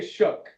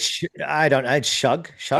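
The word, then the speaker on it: Shough: Pronunciation of Tyler, because I say Shook. Like, It's Shug. I don't know. I think it's Shuck, but then again, I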